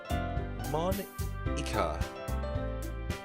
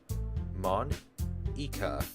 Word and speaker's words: Monika: Monika. And that's not how you say my name at all. Monika.